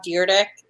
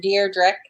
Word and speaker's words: Dyrdek: It's Rob Dyrdek. Your Deirdre.